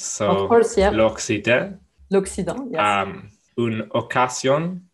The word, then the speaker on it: Occident: L'Occident, yes.